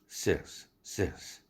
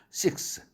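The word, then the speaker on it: six: 퇴 뇌 이런 식이죠 그래서 섹스 라는 단어 묘기 라는 숫자도 섹스가 아닙니다 sex 이렇게 힘을 빼고 발음 해야되죠 단모음 이니까 이완 몸으로 발음해야 됩니다 근데 많은 하는 사람들은 식스 예를 들면 게임에서 6개의 임하자 할 때 식스 게임 하자 이렇게 잘못 얘기 하죠 발음이 섹스 이렇게 힘을 빼야 됩니다 그래서 어떤 사람은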